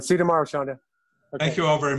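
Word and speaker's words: Shawnda: Oh, but Alan, the pronunciation of my name is just Shonda. Shonda. Yeah. It's Shonda. W is silent? No, you can hear it. S-H-A-W-N is Sean.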